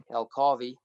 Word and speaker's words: El Carvey: our two names and you say it like Ferrari El Carvey yeah and it's to